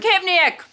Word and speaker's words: tachypneic: Charlie, how do you pronounce that word? Tachypneic.